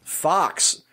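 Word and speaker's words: Fuchs: the lion's share of the work for that Fox Fox that's how you pronounce that name yes fu CH s and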